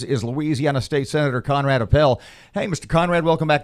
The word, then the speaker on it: Appel: Give me a I think it's Appel. We'll have to ask Conrad Appel. So, rhymes with lapel minus the L.